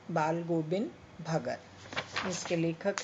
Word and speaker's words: भगत: दूसरी बात, भक्त शब्द नहीं है, भगत। भक्त शब्द नहीं है, भगत है।